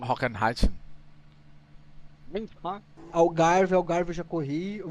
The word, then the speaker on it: Hockenheim: Tô falando de Road América, tô falando de Hockenheim. Eu já fazia isso aqui. Isso aqui é alemão, né? É. Como é que se pronuncia isso? Hockenheim. Hockenheim.